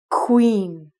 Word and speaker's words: queen: The first word is queen. Queen. So if you take the first qua sound, you're going to make it like a KW, so it's like queen.